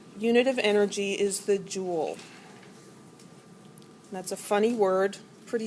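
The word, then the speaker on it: joule: the SI um unit of energy is the jewel that's a funny word pretty sure it's French um it's pronounced Jewel like a jewel and a crown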